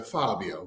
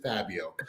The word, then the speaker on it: Fabio: growing up well depends it's a Italian name so it's it's a Fabio but you know in in America and Canada it's just Fabio okay look you don't